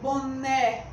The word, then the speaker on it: boné: vãozinho com a palavra boné boné qual foto para você com mais intensidade foi a sílaba né então a sílaba né é que é a sílaba tônica da palavra boné é fácil porque porque